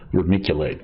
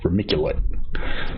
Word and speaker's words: vermiculite: Vermiculite. Okay. Said it right the first time. C like K. Yeah, hard C. Cool. Vermiculite.